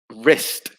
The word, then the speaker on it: wrist: six it is again the w wrist that silent w is very common in english and uh especially before an r w before and r often the w is silent okay good so we